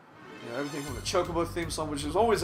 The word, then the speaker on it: Chocobo: fantasy 2 are chocolates they're not chocobos they're chocobos i know it's spelled choc like chocolate no goddamn it's chocobo wakka sayso hold your